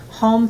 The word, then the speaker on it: Hohm: And then we have Home Foundation, and that's our charity.